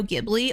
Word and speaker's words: Ghibli: A Studio Ghibli movie has been on my list to watch for Katie Hasn't Seen That since I started this podcast.